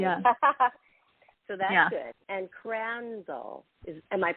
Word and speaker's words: Crandall: And Crandall, am I pronouncing that correctly? Yeah, Crandall.